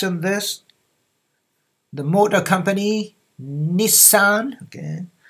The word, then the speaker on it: Nissan: The motor company Nissan. Okay, in English this is two syllable. Nissan. Okay, Nissan. Nissan Motor Company. But in Japanese, it's how many? Nour four more sound.